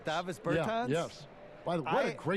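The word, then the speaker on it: Bertāns: Is that how you say his name? Yeah. Davis Bertans. Davis Bertans?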